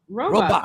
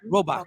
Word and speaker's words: Robach: Robach. Yeah, you said it right. Robach.